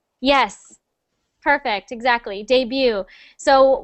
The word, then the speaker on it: debut: in English and it's debut yes perfect exactly debut so we don't pronounce the T so just debut January one more time